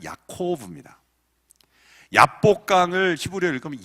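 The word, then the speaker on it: יעקב: 이 야곱이 야복강에서 싸웠다라는 표현을 히브리어로 읽으면 참 재밌습니다. 이 야곱이 히브리어 원발음으로 읽으면 야코브죠. 야곱 우리는 읽지만 야코브입니다.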